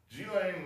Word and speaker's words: Ghislaine: all true okay now one other thing here g-lane maxwell apparently that's how it's pronounced g-lane or maxwell uh we remember this person this